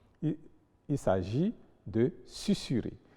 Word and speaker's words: susurrer: Il y a donc des exceptions, notamment dans les cas où le S est entouré de voyelles, mais se prononce quand même S. Il s'agit de susurrer, vraisemblance, tournesol, qui sont en fait des mots composés déguisés.